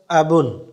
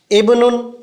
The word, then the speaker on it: ابن: و لہجے کے ساتھ۔ ابن، ابن، اکثر اس لفظ کو پڑھ لیں اور اس پہ شد پڑی جاتی ہے، ابن نہیں، ابن بالکل سافٹ کر کے پڑھنا ہے۔ ابن معنی والد صاحب،